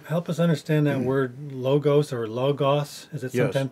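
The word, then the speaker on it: λόγος: it's yeah it's the it's the Omicron so it's the shorter o but they may have pronounced it very similar to Omega which is a longer oh we don't really know okay maybe some people know I'm not real sure if you learn Greek to distinguish them they'll teach you to pronounce it logos and they'll teach you pronounce the Omega as o but uh whether that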